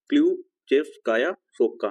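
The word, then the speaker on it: Ключевская Сопка: चोटी जो है वो इसको क्या प्रोनाउंस करेंगे क्लू चेप्स काया सोप का ठीक क्लू चेप्स काया सोप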